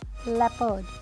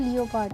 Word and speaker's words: leopard: एंड जो next word है वो है LEOPARD, क्या बनेगा? लेपर्ड। इसे लोग क्या बोलते हैं? लियोपार्ड। I have seen many people pronounce like that.